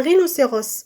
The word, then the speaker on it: rhinocéros: On peut dire que la lettre H dans le mot ou bien à l'intérieur d'un mot est aussi muette, comme au début du mot.